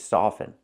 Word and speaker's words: soften: correct now this word this is soften we cannot pronounce the T with this word so they look similar